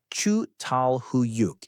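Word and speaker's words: Çatalhöyük: One of the best studied early settlements anywhere is Chhattal Hoyuk, pronounced Chu Tal Huyuk in what's now Turkey.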